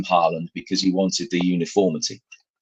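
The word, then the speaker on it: Haaland: to the extent that erling who whose name is Holland uh wanted it because he was so sick of it being mispronounced he actually asked people to call him Harland because he wanted the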